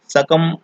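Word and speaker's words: succumb: सकम बोलते हैं उसको, सकम। सकम में मूक अक्षर है ये बी। ये बी ही मूक अक्षर है, जो लास्ट का बी है, सकम। तो ऑप्शन हो जाएगा हमारा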